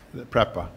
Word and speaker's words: PREPA: The PREPA, is that, it's a, how do you pronounce the name of it? PURPA? Yeah, PREPA.